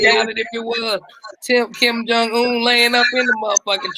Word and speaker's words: Kim Jong-un: I Yeah, know Kim Jong-un. mispronounced it. Yeah. Kim Chin. Chin Chung.